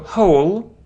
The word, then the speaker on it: whole: it's like when yeah we don't pronounce W here so not not hand